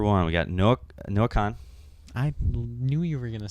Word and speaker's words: Kahan: to go no Kahan Kahan is it not I just don't like your pronunciation at all is it not Kahan no it's Khan yeah like just C an Khan well it's not spelled